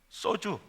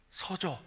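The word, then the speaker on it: σῴζω: 참 헬라 읽기도 좋더라고요 써주 내가 발음을 잘못 했어요 서조 동조가 아니고 서조이 말은 완전히 파괴되다 손상되다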